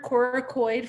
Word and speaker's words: coracoid: And the way I remember coracoid from coronoid on this one is coracoid scapula. I remember that hard C on the scapula.